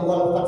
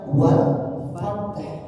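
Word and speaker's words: والفتح: Bacanya jaasallahi walat sampai walfat saja dia enggak ada baca huruf ha belakangnya padahal ada huruf ha. Artinya fath itu adalah pembuka. Kalau cuman sampai ta itu enggak artinya pembuka. Beda arti lagi. Maknanya bacanya gimana? Wal fath ada har wal fath wal fath. Kalau berhentinya sampai wal fat saja maka gak gak sama artinya.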